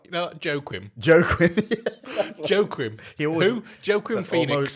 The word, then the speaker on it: Joaquin: Jacquin. Is it Jacquin? How do you say his name? What? How do you say his name? The guy who played the Joker. Oh, Joaquin. Joaquin, that's it.